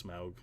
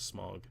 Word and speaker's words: Smaug: So they finally, I guess, settled on the way of pronouncing his name, and it's Smaug instead of Smog, which is what Gandalf.